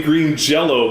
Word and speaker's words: Green Jelly: So it's still technically Green Jello, but they have asterisks. Yeah. It's really weird. You're right. You're supposed to pronounce the Y as an O.